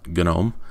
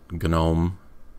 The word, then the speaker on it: GNOME: more fun anyways so this is gnome and you'll also hear pronounced genome or really get into that I don't care how you say it the developers call it genome but I don't know